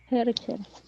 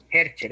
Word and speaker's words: Hercher: Hercher. Hercher es. Con 2 R.